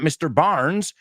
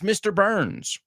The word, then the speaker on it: Burns: for it just remember it's not burn it's burn or Barn it's not Mr Barnes It's Mr Burns Excellent that's an easy